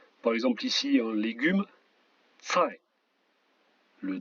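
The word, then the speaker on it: 菜: Le C qui se prononce ts. Par exemple ici un légume, tsai.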